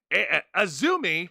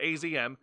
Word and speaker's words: AZM: up against Mina Shirakawa, Azumi, that's how it's pronounced, not AZM, who, by the way, is the New Japan Pro Wrestling Strong Women's Champion, dethroned Mercedes Moné.